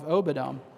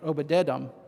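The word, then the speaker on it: Obed-edom: blessed the house of Oedom." Wait, Oedum, I skipped a syllable there. Obedum.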